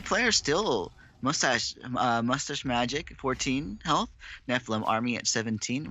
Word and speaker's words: Mustachemagic: These 2 players still Mustachemagic 14 health, NephilimArmy at 17, relatively even. Mustachemagic, I believe that's pronounced. Must ache magic.